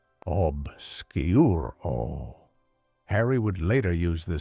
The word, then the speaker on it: Obscuro: its pronunciation obsuro.